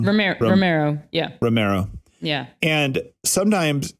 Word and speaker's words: Romero: Oscar Romeo's Romero work in our book club. Did I say it wrong? Romero.